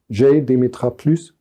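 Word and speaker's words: JDemetra+: The results of GDemetra+, it stems from France and hence I try not to pronounce it German or English, GDemetra+.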